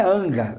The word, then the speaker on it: hangar: de sinop com um então é hangar é um ga a sílaba mais forte é a última hangar é vamos dizer